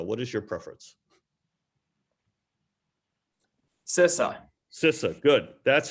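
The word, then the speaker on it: CISA: sissa or sisa what is your preference cesar cissa good that's how i like to pronounce it and that's that's now the official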